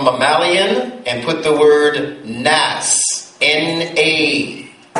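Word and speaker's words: ناس: Draw a line across from mammalian and put the word nas. N-A. Make it double A so you know how to pronounce it.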